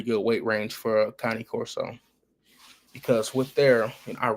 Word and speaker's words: Cane Corso: Cane Corso, not Kane, not Kanye, not Can.